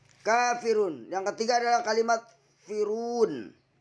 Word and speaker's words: al-kafirun: Al-ka, alif lam komariah. Karena alif lam bertemu dengan salah satu huruf komariah, yaitu huruf kaf. Cara membacanya yaitu dengan jelas. Setelah berlaku hukum mad tabi'i karena kaf fathah bertemu dengan alif, dibaca 2 harokat.